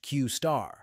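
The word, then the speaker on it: Q*: deep research capabilities previously called Q pronounced qar demos showed these models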